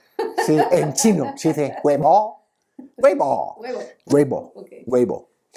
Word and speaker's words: Weibo: Sí, en chino se dice Weibo.